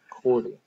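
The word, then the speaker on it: chordee: surface of the penis It's associated with cordi that's spelled c h o r d e e Cordy um which is poorly developed penis that curves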